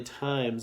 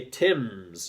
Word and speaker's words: times: The only tricky part about times is that silent E down there to make the I say I. Okay, otherwise it would say Tims, and we don't want some Tims. We want some times.